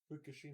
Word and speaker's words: Fukushima: and the Fukushima, I don't know how to pronounce that, nuclear hit in Japan. Race. Say it right. Fukushima.